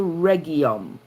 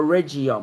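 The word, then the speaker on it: Rhegium: fetched a compass and came to regium or regum however they pronounce it and after one day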